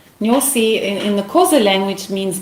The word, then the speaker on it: Nyosi: Can you spell it and explain what it means? Yeah, sure. So it's Nyosi Wildlife Reserve, Nyosi. Nyosi in the Xhosa language means bee.